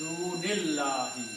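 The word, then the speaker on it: دُونِ اللّٰهِ: And when you read together, you do not pronounce this alif, you pronounce dunillahi.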